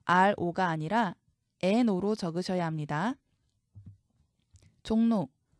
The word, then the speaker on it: 종로: 종로, 역시 비음화가 일어납니다. 리을이 니은으로 바뀝니다.